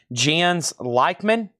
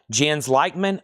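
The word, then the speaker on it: Jens Lekman: Let's do this other record that was asked about, and this name is pronounced Jens Lackman. Jens Leichman, Night Falls over Cordella.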